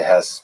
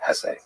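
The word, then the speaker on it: Hesse: I've heard some people say Hess, but my whole life I've always said Hess.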